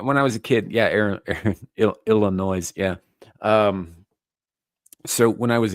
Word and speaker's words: Illinois: No, I don't pronounce the S in Illinois.